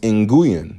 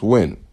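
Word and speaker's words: Nguyễn: Everybody thinks it's pronounced inuan, but it's actually pronounced win.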